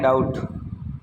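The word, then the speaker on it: doubt: है हां तो देखो अगला है डाउट डी ओ यू बीटी डाउट B silent होता है तो डाउट डाउट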